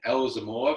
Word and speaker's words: Elzomor: So welcome to the podcast, Yasmin Elzomor. Have I pronounced that right?